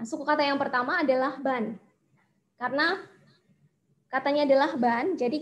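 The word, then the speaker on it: 반: Ini bacanya adalah ban. Dibaca ban.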